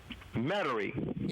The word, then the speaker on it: Metairie: Is it pronounced Metairie? Metairie? Metairie.